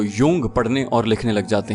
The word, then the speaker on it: Jung: इमरान बोला, अच्छा याद कर लो, JUNG, यूंग। बहुत से जाहिल इसे जंग पढ़ते हैं और कुछ जुंग। जिन्हें काबिलियत का हैजा हो जाता है वो यूंग पढ़ने और लिखने लग जाते हैं।